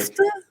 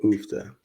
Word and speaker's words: uff da: Like, Oofta? yeah, like How do you spell that?